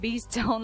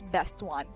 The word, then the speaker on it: Bestone: is best one or I was pronouncing it like Beast Stone last time but actually I realized that it's best one so best one is